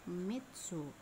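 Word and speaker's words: 三つ: tiga kaku tiga penulisan biasanya dalam kurung yummy dibacanya Mitsu ya Hai ada juga dibaca my oh yo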